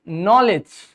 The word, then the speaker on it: knowledge: We have fourth word knowledge. Here the word k is silent and d g is silent in it.